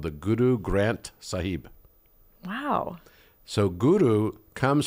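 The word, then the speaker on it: Granth: they're like oh Guru Grant sahib I was just laughing about it because I had no idea it's actually written um g r a n t h but the H is silent interesting mhm interesting yeah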